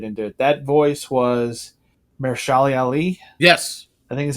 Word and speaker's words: Mahershala Ali: That voice was Mahershala Ali. Yes. I think is how you pronounce that.